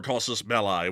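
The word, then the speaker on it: casus belli: laid out as proper causes bellies uh in the past. But beyond that, or Kosus Malai, which is the correct pronunciation, but beyond that, a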